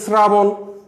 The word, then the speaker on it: শ্রাবণ: হবে শ্রাবণ, শ্রা, স, তালব্যস আছে কিন্তু তালব্যস থাকলেও উচ্চারণ কিন্তু তালব্যসর মতো হয় না, নর্মাল স হয় না, শ্রা, কারণ র বা রফলা বা ঋকার, আমি তোমাদের আগেই বলেছি এই যে রফলার কারণে এটা শ্রা উচ্চারণ হয়েছে, এবং যেটা ভিন্ন উচ্চারণ